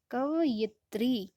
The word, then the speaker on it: कवयित्री: ठीक है, कवयित्री उच्चारण करके देखिए, बार बार उसको उच्चारण करें कवयित्री, तो आपको लिखने में,